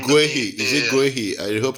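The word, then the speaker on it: Guéhi: Guehi. Is it Guehi? I hope I'm pronouncing it well. Yeah, Guehi.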